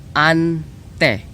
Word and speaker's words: ante: Anyway, to pronounce it, I will put it in the video edit before, but it's ante, A-N-T-E, and uncle, ang, or as if A-N-G-K-L-E, angkol, or K-O-L.